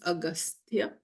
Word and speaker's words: Agastya: Ou gete comment on prononce li pour capable écrire li, but this is how we pronounce Agastya.